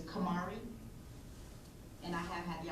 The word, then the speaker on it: Kamari: I have, Your Honor, and I just want to correct for the record, I don't know if you pronounce the name, it's Kamari, and I have had the opportunity to speak with him, yes, Your Honor.